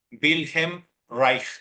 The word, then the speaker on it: Wilhelm Reich: un tal virgen Reich así se pronuncia otros lo conocerán como wilh Reich wilgen rage pero la forma correcta de pronunciarlo en alemán es bhem Reich así se debe de pronunciar y este tipo Me